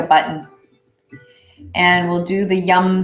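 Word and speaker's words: Yam: And the sound vibration is yum. Y-A-M, but pronounced Y-U-M.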